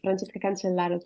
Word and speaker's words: Francesca Cancellaro: Francesca Cancellaro, have I said it right? Did I say it correctly? Yes, Francesca Cancellaro, thank you.